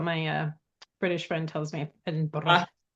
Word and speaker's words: Edinburgh: Edinburgh. That's how you pronounce it?